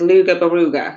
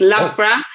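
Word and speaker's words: Loughborough: actually look at it and think it says luga baruga because that's how it's spelled but it's lra and it's based in the Midlands uh of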